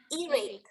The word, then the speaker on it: earache: Together, earache. Bukan C ya bacanya, tapi K, earache.